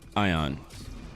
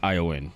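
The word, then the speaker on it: Eoin: fgc I'm called EO in pronounced ion pronounced ioen but yeah they live by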